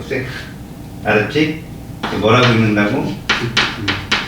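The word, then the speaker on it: sec: 그래서 이거를 이니셜을 따서 이렇게 하면 세크라고 읽어. 세크. 알았지? 뭐라고 읽는다고? 세크.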